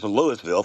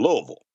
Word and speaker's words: Louisville: And so I asked the guys at the table, I said, "How far is Lewisville from Nashville?" They go, "Where?" I said, "Lewisville." He goes, "Oh, you mean Louisville."